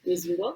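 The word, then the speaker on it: Wissembourg: That's how you pronounce it. Whisenborg.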